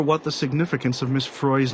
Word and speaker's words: Frey: the significance of Miss Frey's name will be although as she says it does rhyme with joy not with Freud this is so wonderfully